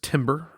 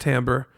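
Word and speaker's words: timbre: Uh tambber often mispronounced as timber. Tim or Tim. Timbra t i m r e, but it's pronounced tambber.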